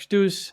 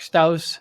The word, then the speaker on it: Stouse: You say Stouse. If we say it here in Europe, it's Stouse, but that's the wrong pronunciation.